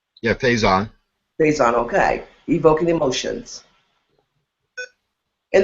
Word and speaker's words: Faison: Did I pronounce that correctly? Yeah, Faison.